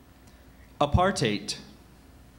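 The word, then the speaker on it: apartheid: r a i t a writer that's correct apartate are there any alternative pronunciations I have apartate aparte and aart heite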